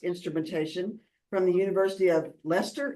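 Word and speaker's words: Leicester: from the University of leester is that the way to pronounce that yeah that's correct okay uh in 2012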